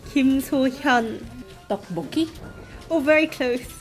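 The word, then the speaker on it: 김소현: Kim So-hyuk. That's wrong. It's Kim So-hyun.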